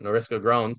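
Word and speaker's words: Norylska Groans: Fletcher, Clayton actually co-wrote Noriska Groans.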